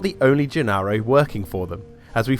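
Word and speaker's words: Gennaro: However, during the end credits of the movie, and how the characters pronounce her name in the film, and how it's basically registered everywhere else, it's Janaro.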